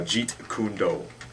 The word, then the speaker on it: Jeet Kune Do: Okay, Nikki, tell us about yourself and what you do, and how do you pronounce it? It's Jeet Kundo. Kundo. Yeah, And Jeet that's Kune Do.